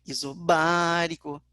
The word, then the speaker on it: isobárico: A sílaba tônica é o B, isobárico, por isso, alternativa B.